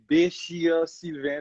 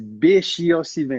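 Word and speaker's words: Béchir Sylvain: Bashir Sylvain is actually how you're supposed to say my name. So I know a lot of people are like, huh? What? Really, Bashir? Is Bashir Sylvain. It's actually B-E accent C-H-I-R and Sylvain. Very, very French name.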